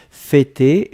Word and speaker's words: fêter: F-E, accent circonflexe, T-E-R. D'accord? Fêter, et on prononce bien le pour l'accent circonflexe.